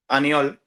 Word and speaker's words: Aniol: name your your name anol anol am I saying it right yeah yeah yeah um you you're Spanish